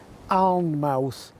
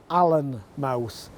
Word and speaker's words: Alnmouth: But whichever you prefer, this village is definitely Alnmouth, not Allenmouth. Otherwise, we would have Allenwick instead of Alnwick, and so on.